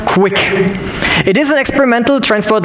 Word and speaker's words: QUIC: the quick means right quick is the quick UDP internet connection pronounced quick it is an experimental